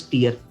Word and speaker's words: tier: It should be pronounced as tier.